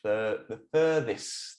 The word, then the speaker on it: furthest: Don't forget, that's how you say the furthest. Well, you don't say it like that, but almost, yeah. Furthest. Furthest. Yeah, that's the difficult part. Furthest. So you have your F and your th.